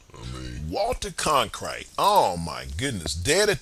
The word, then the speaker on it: Cronkite: Cronkite, I think that's how you say his name, yo.